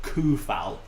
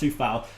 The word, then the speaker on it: Coufal: It's spelt Coufal. So it looks like it's spelt Koufal or Koufal or something, but it's pronounced Soufal.